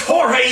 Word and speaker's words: Jorge: of holy island is George present he asked that ain't George it's Jorge you wh Lo your mother say it right Jorge responded is he